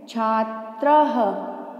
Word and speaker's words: छात्रः: बनता है छात्र, और जब दो डॉट्स लगे हैं यानी कि विसर्ग लगा है, तो हमें इसका उच्चारण भी करना है।